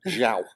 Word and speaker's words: João: João, I think is the Portuguese pronunciation.